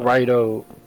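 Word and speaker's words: Raidou: That's how you spell it. Rido.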